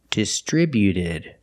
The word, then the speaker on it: distributed: When we add e d, the t at the end is between vowels. So, it's a fast d, not distributed, but distributed. Distributed. Put the stress on the second syllable only.